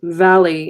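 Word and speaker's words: Váli: absolutely to the sega's valley is the god of fidelity v a li accent on the AI is the god of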